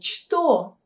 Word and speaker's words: что: Вы заметили, что мы произносим букву «ч» как «ша». То есть у нас не «что», а «что».